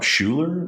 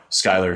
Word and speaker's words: Schuyler: And it's spelled the Dutch way, Schuyler, which is kind of funny when people see it. They're like, oh, Schuler is your middle name, but Schuyler, just the Dutch way of spelling it, which is kind of cool.